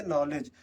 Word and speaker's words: knowledge: तो इसमें देखिए एन के पहले के है इसलिए के साइलेंट है और जी के पहले डी है तो जी डी साइलेंट है।